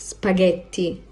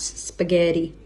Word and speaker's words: spaghetti: This word is pronounced spaghetti and not spaghetti.